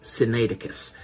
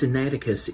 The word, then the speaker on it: Sinaiticus: of them is Codex Sinaiticus. It can be pronounced a little bit differently, but the main part is you have the word Sinai in there because it was found at a monastery around Mount Sinai.